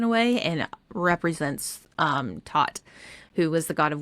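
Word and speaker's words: Thoth: Um the next one are is ibises and thought or tot sorry not thought tot. Um so as we learned before ibis is an elegant um bird in a way and represents um tot who was the god of wisdom writing and magic.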